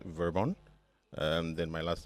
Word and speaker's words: Vir-Bon: right okay um so my first name is pronounced verbon um then my last